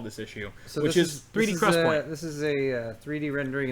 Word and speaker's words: XPoint: It's pronounced XPoint.